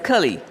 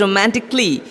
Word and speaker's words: romantically: Now people often mispronounce the word as cully. They start pronouncing it romantically. Similarly, they pronounce practically, basically, physically, which are not the correct pronunciation. The correct one is romantically. It is an A silent word. The A after the C is silent. That makes it romantically.